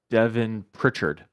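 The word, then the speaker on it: Devon Pritchard: How do you pronounce the name? Pitchford? Was it Pritchard? I don't. Yeah, I can't pronounce the last name. But it's really not that bad. It's Devin. I'll have Bryant say it so I don't mess it up. Here we go. Devin Pritchard. So just Devin Pritchard is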